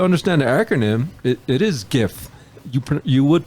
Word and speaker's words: GIF: and people will say Jeff it's a Jeff file but it stands for uh graphical interface file graph so it's a hard G so it's GIF kind of like Easy